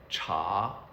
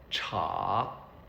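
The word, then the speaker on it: 茶: So the word for tea is pronounced cha cha.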